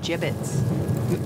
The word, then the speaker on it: gibbets: look Avery had some gibbets left over gibbets what it's pronounced jibbets are you sure yeah